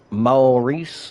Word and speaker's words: Maurice: Morice. That is how you say your name. Maurice.